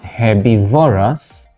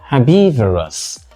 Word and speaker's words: herbivorous: syllable here we have not herbivorous but herbivorous herous the cow is a